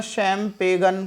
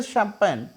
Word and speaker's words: champagne: Next is CHAMPAGNE, देखने में तो ऐसा लग रहा है शैम्पेगन कुछ होगा बट इट इज शैम्पेन, शैम्पेन, शैम्पेन, ये इसका प्रोनाउंस है और इसे हिंदी में बेसिकली हम बोलते हैं शैम्पेन।